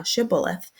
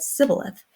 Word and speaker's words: Shibboleth: And said they unto him, Say now Shibboleth. And he said, Sibboleth, for he could not frame to pronounce it right.